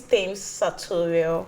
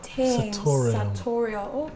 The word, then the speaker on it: Tem's Satoriale: Okay, so the name is Thames Satoriale. Thames Satoriale. Okay, I thought it was Satoriale. Okay. What language is that? That's Italian. The Italian version, the Italian pronunciation for Satoriale.